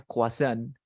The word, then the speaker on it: croissant: luego tenemos un el esto se pronuncia coazán luego tenemos el mesero